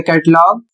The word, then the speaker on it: catalogue: अगला शब्द है CATALOGUE, इसे पढ़ा जाएगा कैटलॉग और इसका अर्थ होता है सूची पत्र।